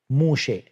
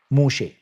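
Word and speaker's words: משה: Moshe. Moshe. Maybe it's slightly different. Like approximately, it's pronounced Moshe. With a sheen and with imala on the end.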